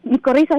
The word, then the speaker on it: micorrizas: Las micorrizas. Es un hongo. Háblame de las micorrizas. ¿Lo estoy pronunciando bien? ¿Y cómo trabajan para aportar nutrientes a las plantas, Aide? Sí, micorrizas, así la está pronunciando bien.